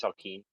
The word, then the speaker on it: Salkeen: And it's pronounced Salkeen, just so you know. Saltine. Kind of like saltine, but with a K instead of a T.